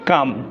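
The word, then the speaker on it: calm: করব সি এল এম কাম যেহেতু এলটা কিন্তু এম এর আগে রয়েছে অর্থাৎ এম এর আগে যে এলটা রয়েছে তাই আমরা কিন্তু এল এর সাউন্ডটা উচ্চারণ করবো না ওকে নেক্সট স্টেপে আমরা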